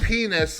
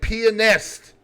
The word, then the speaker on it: pianist: So you gotta pronounce the A and the T in that word. Here we go. Let's say it correctly. American singer and pianist, Little Richard.